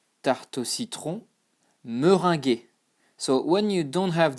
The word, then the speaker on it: meringuée: But when you add this, it becomes tarte au citron meringuée. And there is a E here because this is the feminine form, but you don't pronounce it either, you know, you just say ge, e.